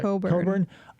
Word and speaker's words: Cockburn: you'll feel here we have cockburn here but pronounced yeah Coburn um yeah the English